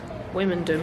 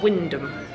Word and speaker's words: Wymondham: thing I don't understand about Wyndham is the pronunciation of the place name I said women do for quite a long time because that's how it's spelled until I got told it's actually Windham apparently be M and the O were silent